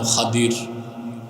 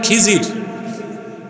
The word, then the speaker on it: খাদির: এক বান্দা, তার নাম খাদির। খাদির তো বুঝেন নাই, যাকে আপনারা বলেন খিজির, ওনার নামটা কি? খাদির, বিফাতহিল খা ওয়া কাসরিদ দাদ, খাদির। আমরা বলি খিজির, এটা ভুল উচ্চারণ। শুদ্ধ উচ্চারণ কি? খাদির।